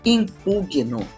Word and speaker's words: impugno: de alguma direto deixa o correto é eu impugno não se desenvolvendo não Augusta não eu impugno eu propugno eu e eu me indigno com a situação não se